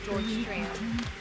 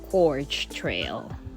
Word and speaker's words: Gorge Trail: the Finger Lake Trail back here to the George Trail. Okay. And by the way, it's pronounced Gorge Trail.